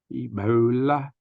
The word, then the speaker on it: Ebola: names HIV and ebola ebola kind of rhymes with the Lola remember my video video